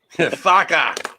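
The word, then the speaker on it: Farke: Farka or whatever his name is. Yeah, pronounce it properly. Farka.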